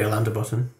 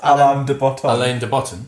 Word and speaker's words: Alain de Botton: So very Alander Button. What's that? I don't know how you pronounce his name. Alain de Botton.